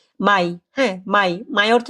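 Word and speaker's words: Mai: হবে ওকে এপ্রিল মাসকে কি বলে আর যেটা মে মাস এই মে মাসটাকে কি বলে উচ্চারণ করে জানেন এই মেটা হয়ে যায় মাই হ্যা মাই মে না মাই যদি আমরা কোথাও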